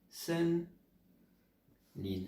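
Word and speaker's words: 森林: Je vous donne la prononciation, pas obligé de le retenir, mais au moins vous saurez dire forêt. Sen Lin.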